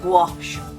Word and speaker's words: gouache: and inspiration to explore gouache now they say it's pronounced wash I'm still gonna pronounce it go out because I've always pronounced